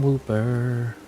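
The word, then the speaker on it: Wooper: Why do you rhyme with Pooper?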